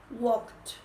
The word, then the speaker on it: walked: Walked. Le vamos a agregar ed al verbo en pasado. Entonces va a quedar W-A-L-K-E-D. Walked. Aquí se va a pronunciar con T.